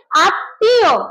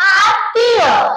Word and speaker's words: আত্মীয়: ম ফলা থাকার কারণে ত দুইবার উচ্চারণ করতে হবে এবং শেষের ততে চন্দ্রবিন্দু থাকবে। উচ্চারণ হবে আত্মীয়। কি উচ্চারণ হবে? আত্মীয়।